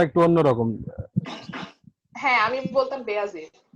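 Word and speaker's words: Bayezid: ওইখান থেকে আসলে বাংলাদেশে এই নামটার প্রচলন, মানে Turkish name বেয়াজিদ, Turkish origin. So ওদের উচ্চারণটা ওরকম।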